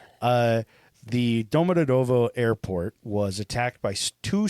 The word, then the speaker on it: Domodedovo: Now in 2011, Moscow's Domodedovo, I think is how it's said. But sounds it's right. Russian, so it probably sounds more angry. The Domodedovo airport was attacked by two suicide bombers.